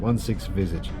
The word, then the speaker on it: 16visage: But I did check with Josh, and he said it's only pronounced that way if you're trying to sound really French. I was like, I thought so. So it's visage, 16visage.